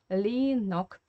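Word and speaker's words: Ленок: And pay attention again to Russian phonetics here, because this year we should pronounce as E, Lenok, yeah.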